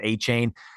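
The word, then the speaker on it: Achane: Devon um I think I think his name's a Chan now I think I think uh he he corrected people's pronunciation of a Chan so I think it's a Chan now but um he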